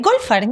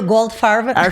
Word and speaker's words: Goldfarb: Eh, Golfard. Yo lo pronuncio Golfard. Cuando voy a Estados Unidos digo Goldfar, pero y ahí me lo escriben hasta bien, fíjate. Sí, pero Golfar. Golfar está perfecto.